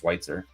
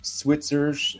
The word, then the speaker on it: Swier: name both boring and my last name nobody can ever spell it or say it right but it's just swier oh yeah and nobody